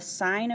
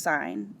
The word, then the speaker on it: sin: need to find the sine of a the abbreviation we abbreviate sine to just s i n we just drop the e but it's not pronounced sin it's still pronounced sine and then we put